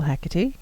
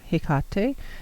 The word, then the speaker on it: Hecate: for instance I follow Hecate or Hickok day depending on how you want to pronounce it and I have